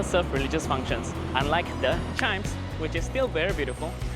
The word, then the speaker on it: CHIJMES: So if you notice, actually it's CHIJMES, but it's pronounced as chimes. So just pretend the J is not there.